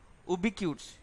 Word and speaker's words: ubiquitous: The pronunciation is ubiquitous.